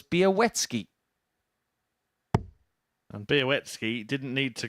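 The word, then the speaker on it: Białecki: how this is said so now we know it's be a wetsky and beowetsky didn't need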